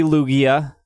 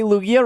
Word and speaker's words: Lugia: the 6:00 challenge it was supposed to be Lugia which was actually a surprise I thought it